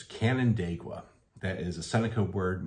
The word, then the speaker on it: Canandaigua: you say this and if if you actually look at it it's pretty much as it looks it's Canon daqua that is a Seneca